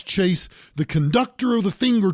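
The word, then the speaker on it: Chayse: His name is Chase. Now you're thinking Chase, C-H-A-S-E, because Chase has yuppie parents. His name is spelled C-H-A-Y-S-E, Chase.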